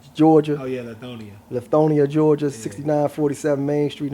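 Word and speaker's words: Lithonia: I don't want to butcher the city name. What's it? Lethonia, Georgia. Oh, yeah. Lethonia.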